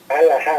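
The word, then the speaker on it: halajá: Alajá, ¿verdad? Alajá, se escribe H-A-L-A-J-A. Alajá.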